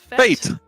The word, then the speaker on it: fête: How do you pronounce it? Fête? Fate.